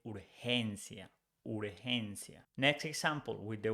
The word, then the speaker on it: urgencia: When it's followed by E or I, it's pronounced like H in English. So urgency becomes urgencia. We don't say urgencia, we say urgencia.